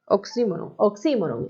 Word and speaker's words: oxímoron: Oxímoron es oxímoron, porque lleva tilde en la I, oxímoron.